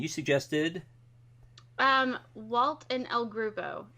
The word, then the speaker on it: El Groupo: suggested um Walt and L groove oh I think is how you correctly pronounce it that is correct so